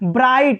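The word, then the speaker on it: bright: ब्राइट, इसमें भी GH silent है।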